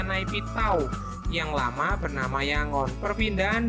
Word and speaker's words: Naypyidaw: yaitu nightmare nightmare Doh tulisannya naypyidaw Tapi bacanya naik tahu yang lama bernama Yangon